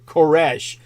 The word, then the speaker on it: Koresh: That's actually pronounced Koresh, like David Koresh.